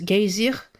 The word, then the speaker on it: geysir: Le geyser, mot que les Islandais prononcent geysir et qui signifie fureur, s'élève majestueusement à son extrémité.